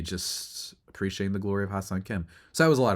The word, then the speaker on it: Ha-Seong Kim: And I remember my cousin asking me, like, oh, how do you pronounce this guy's name? And I was like, hey, it's Ha-Seong Kim, man.